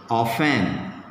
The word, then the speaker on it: often: Often. T is silent.